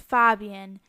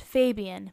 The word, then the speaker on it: Fabian: In Polish, it's pronounced Fabian. And in English, it's pronounced Fabian.